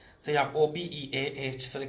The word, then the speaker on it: Obeah: So you have O-B-E-A-H, so they call it Obeah. The H silent as far as I'm concerned.